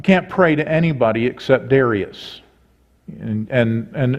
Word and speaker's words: Darius: way I say that I've always said Darius and I believe the correct way to pronounce it is Darius um and so they